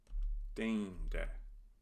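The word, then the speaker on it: deinde: Dende. This word illustrates the pronunciation of the diphthong EI. It should be A.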